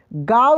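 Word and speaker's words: गाँव: दिखे या बिंदी दिखे इसका उच्चारण नाक सो का गांव कैसे होगा गांव नहीं गांव ठीक है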